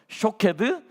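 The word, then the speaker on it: שָׁקֵד: 비슷하죠, 그죠? 쇼케드, 샤카드. 따라해봅시다. 시작. 쇼케드, 샤카드. 한 번 더 시작. 쇼케드, 샤카드. 둘이 똑같죠, 그죠?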